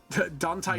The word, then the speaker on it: Dante: Man, I listened to the audiobook for The Devastation of Baal, and the entire time they pronounced his name Dante, and it was driving me crazy.